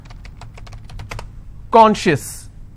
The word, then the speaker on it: conscious: not apply here okay conscious how many syllables do i have two and i will stress on corn conscious okay precious how many